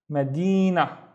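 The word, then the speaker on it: مدينة: So the first syllable is ma. This is the shape of the ma at the beginning, ma. And then we have di, na, Medina.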